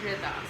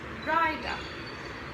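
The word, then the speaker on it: Ridah: of room to grow my name is riddha spelled r-i-d-a-h however in preschool my name was pronounced raida which i'm not entirely sure how they got there because isn't it in preschool where students learn that the pronunciation of i is if and not i unfortunately many people color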